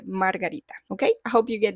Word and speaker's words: margarita: And I almost forgot, but daisy in Spanish is pronounced margarita. Yeah, it's kind of like the drink margarita, but you say margarita.